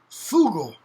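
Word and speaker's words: fugol: for that is fugel f-u-g-o-l foogle well that g becomes foogle fool fool and it drops off and vowel change occurs in the late middle ages early renaissance period great what's called the great vowel shift and it becomes foul okay now if you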